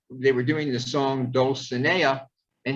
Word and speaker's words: Dulcinea: were doing the song dulcinea and he decided it was castilian and it should be pronounced dolphinair and i can't sing this